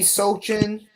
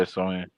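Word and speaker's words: Sochan: Jeremy Sochin. You said Jimmy who? Jeremy Sochin. I don't know how to pronounce his name. Sohan? Yeah, Sohan.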